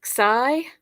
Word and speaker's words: pi: to this one which you'll know is pi but it's pronounced p in Greek and it makes the